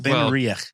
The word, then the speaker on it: Benriach: Ben Benriach.